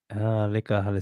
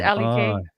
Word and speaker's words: Leka: spell that if it was? Just L-E-K. Like Ah, liquor on the was. Leka He's Halasima. L-E-K. Ah, yeah.